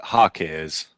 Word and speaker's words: Jaquez: Ware, Jaime Jaquez Jr., which I personally think Jaquez Jr. who's He's a decent player. Tyler Herro, that's the It's Hakkes.